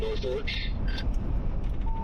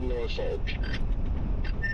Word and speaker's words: Norfolk: debate of Norfolk and Norfork. I have always said Norfolk. 100% Norfolk. I've always said Norfork. Not an R. It doesn't say fork. It's folk.